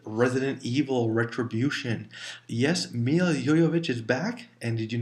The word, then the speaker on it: Jovovich: evil retribution yes Mila yo yo vich is back and did you notice i pronouncing correctly it is yo yo not jovovich it is a Russian name so that's why it's